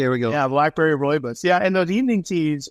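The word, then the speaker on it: rooibos: how do you say that one more time ryus ryus okay here we go yeah Blackberry Roy buus yeah and those evening tees are great they're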